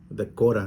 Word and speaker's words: Dakota: Dacora, dicen los de acá. Dacora es Dakota, pero la pronunciación es Dacora del Norte.